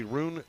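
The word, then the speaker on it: Rune: contributing defensively there was roon t-pol t-pole wears 44 he's a junior linebacker roon is spelled r-u-n-e roon t-pole one of the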